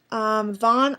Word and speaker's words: Vaughn: Vaughn, I just love the name. I think it's really nice. It's short, but it's long. Like, it's spelt long, but it sounds short because it's one syllable.